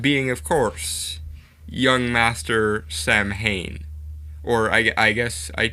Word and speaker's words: Samhain: the day that halloween is based on is samhain because of the weird way uh english and